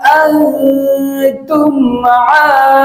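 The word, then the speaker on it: أنا: এইভাবে করে আপনি বলুন, ওয়ালা আনতুম আবিদুনা মা আ'বুদু, ওয়ালা আনতুম আবিদুনা মা আ'বুদু।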